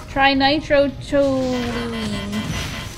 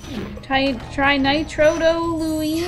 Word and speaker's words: trinitrotoluene: Trinitrotoluene. Trinitrotoluene.